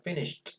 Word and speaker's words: finished: Entonces se pronuncia finished.